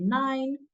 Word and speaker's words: nein: If you want to say no, you say nein.